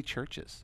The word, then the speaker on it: CHVRCHES: strike me there's AV you used a V instead of a u that's not I thought people were telling me that they're mispronouncing it I'm like how can it be churches ghosts but with an